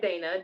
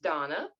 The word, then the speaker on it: Dana: um her name is it looks like Dana d-a-n-a but it's absolutely pronounced Donna um based on the description here so Donna is one of the